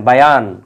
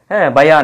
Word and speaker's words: বায়ান: শিখালেন বক্তব্য দিতে শিখালেন বায়ান এই যে আমরা বলি না যে বয়ান দিচ্ছে বয়ান এই শব্দটাকে অনেকে কিন্তু বয়ান বলে কারণ বায়ানা এই জবরের উচ্চারণটা অনেকে কিন্তু হরকত বিহীন করে হ্যাঁ বায়ানাকে বয়ান বলা